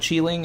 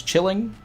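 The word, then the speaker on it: Qilin: It's not Cheeling, it's chilling.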